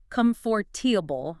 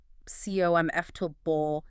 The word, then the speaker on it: comfortable: If you stress it wrong, like comfortable instead of the more natural comfortable, it can just sound a little off.